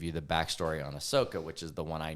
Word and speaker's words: Ahsoka: I did end up sitting and watching um Ahsoka with you yeah is that how you say it Ahsoka yeah okay what did you think of the